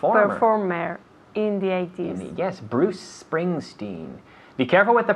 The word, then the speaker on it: Bruce Springsteen: performance in performer performer in the 80s yes bruce springsteen be careful with the pronunciation bruce springsteen was a popular performer again bruce prince princeton